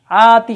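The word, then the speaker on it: آتِ: অংশটা আমরা যাই আতি আতি শব্দটা এই জায়গায় কিন্তু এক আলিফ টান দেওয়া আছে আতি এই আতি শব্দের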